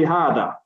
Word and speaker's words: هذا: So everything we read now, hada, we don't say hida, we don't say huda. We've just learned now. When we see this word, every time we're going to say hada.